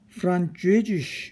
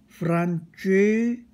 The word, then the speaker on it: Französisch: 다 같이 도이치 Deutsch, 여기 어의 발음이죠. 프랑스어는 Französisch, 여기 의 발음입니다. Französisch 이렇게 됩니다. Französisch.